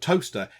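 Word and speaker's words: Towcester: world might be going, there's a place called Toaster. It's not spelt toaster like a thing you would brown bread in. It's spelt with a C.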